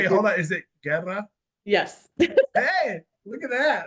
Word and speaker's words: Guerra: It's Guerra. Guerra. Okay, But if you are Spanish, you're supposed to say it more with like the R roll, the accent, but I'm not okay.